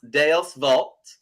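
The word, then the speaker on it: Deus vult: see uh is Latin I believe it's pronounced d Vault and it just means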